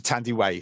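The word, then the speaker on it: Thandiwe: So like Thandie Newton, it's actually Tandue, also Tandiway, sorry, and Sade.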